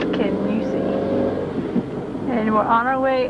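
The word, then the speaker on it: Kingussie: We thought it was King Jessie, but it's Kenusi.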